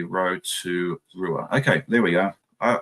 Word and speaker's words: Rotorua: Rotorua is said pretty much how it's spelled, not fancy, basically phonetically. Rotorua.